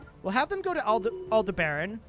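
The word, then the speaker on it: Aldebaran: have them go to Alder Baron aldebran I think it's pronounced all debran and we'll do it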